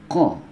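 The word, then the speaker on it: ق: Fa, ko. Fa, ko. Ya, ini ko di pangkal tenggorokan ya.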